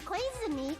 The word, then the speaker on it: Koizumi: To think that the person who killed the wonderful Mahiru Koizumi is in this room.